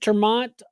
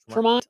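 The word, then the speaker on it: ter Maat: Uh, the former vice presidential nominee, Mike Turmont. Um, did I say that right? Termont. I always butcher his name. It's spelled a little different, too. T E R space. M A A T. Mike Fancy. So, Mike Tmont.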